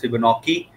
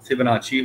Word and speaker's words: Fibonacci: Some authors pronounce this as Fibonacci, but hardly matter. The proper word Fibonacci होता है.